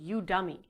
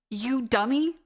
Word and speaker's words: Udemy: It's actually Udemy, as in... I'm gonna fucking kill myself. Are you You dummy?